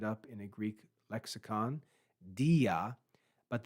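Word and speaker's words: δι': in a Greek Lexicon diaa but the alpha has been dropped from pronunciation and marked with an apostrophe because the next word starts with the a sound so rather than saying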